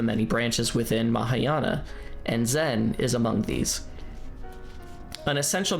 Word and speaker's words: Zen: In contrast with the English pronunciation of Zen, some Japanese speakers say jen, which is closer to the Chinese chon.